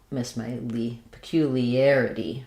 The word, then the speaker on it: peculiarity: So peculiarity, stress on the third to last syllable, peculiarity.